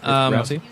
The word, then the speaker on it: Rousey: Is that how you pronounce her last name? Ronda Rousey. Rousey.